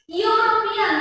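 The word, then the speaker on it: European: यूरोपियन, देखो यू ई से start हुआ है, लेटर ई से स्टार्ट हुआ है, लेकिन प्रोनाउंस क्या हो रहा है, यू का सेपरेट प्रोनाउंस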